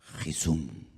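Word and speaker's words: חיסון: dónde la palabra vacuna vacuna en hebreo se pronuncia jisun tiene la misma raíz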